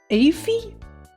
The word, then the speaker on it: Aoife: As above, I didn't know how to pronounce Aphie? Would be my guess? When I first saw it? That's my guess, Aphie. Aphie? Offie? Aoife? Huh. Aoife is the best way to pronounce.